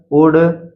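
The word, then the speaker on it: would: डी एफ के यम से पहले हमेशा यल साइलेंट रहता है। जैसे कुड, कुड, शुड, वुड, यहाँ पर आप देख सकते हैं ये तीन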